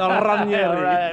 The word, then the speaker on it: Ranieri: You hit the R, eh? Ranieri.